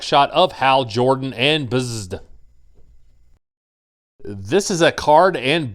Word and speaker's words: Bzzd: On the front, it says Movie Masters Hal Jordan and Bzzd. And I know some people pronounce it Buzzed, but to me there's no U in there, so it's Bzzd.